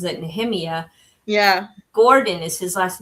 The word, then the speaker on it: Nehemiah: It looks like Nehemiah, but he pronounces it Nehemiah.